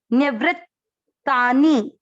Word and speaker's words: निवृत्तानि: चौथा चरण न, पूरा न में अभिक्स किया, निव्री, व्री वही चीज, व आधा री पूरा, निवृत्तानि।